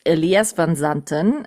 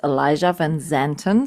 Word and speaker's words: Elijah van Zanten: In Germany, we would say it's Elias van Zanten. In English, I'm saying it's Elijah van Zanten.